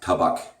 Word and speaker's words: Tabak: Incidentally, Douglas, if you ever watch this, it's pronounced Tabak.